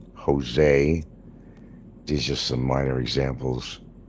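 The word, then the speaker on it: José: You don't pronounce it as a J. It sounds more like an H. Jose.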